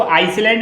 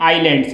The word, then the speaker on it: island: देखो, इसको आइसलैंड नहीं पढ़ते, इसको हम क्या पढ़ते हैं? आइलैंड्स। एस इसमें क्या रहता है? साइलेंट रहता है।